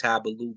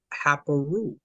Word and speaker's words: Haparu: We don't switch the R to the L in the instance of this Semitic loan word. So that's Yeah, starting to fall apart. so it would be pronounced Hapalu. Exactly. They're trying to claim it says Habalu, but right here, all of the scholars say Haparu.